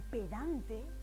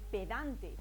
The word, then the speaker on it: pedante: una palabra por eso podríamos decir que pedante tiene acento en dan pero no tiene acento